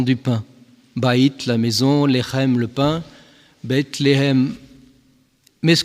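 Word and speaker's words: לחם: Baït, la maison, Lechem, le pain, Bethléem.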